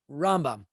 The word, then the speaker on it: Rambam: The convention is that when we want to say Maimonides' name, Rambam, we accent it on the first syllable, Rambam.